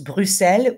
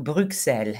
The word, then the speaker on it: Bruxelles: de la belgique bruxelles on prononce bruxelles ou bruxelles les deux sont possibles quelle sorte d'art trouve-t-on